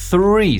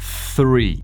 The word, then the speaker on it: three: Three se pronuncia así con la lengua por los dientes, haciendo un sonido de la S. Con la lengua por los dientes. Three.